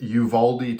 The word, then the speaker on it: Uvalde: I looked up how to pronounce it, Uvalde, Texas, a small town in southern Texas, actually near the Mexican border.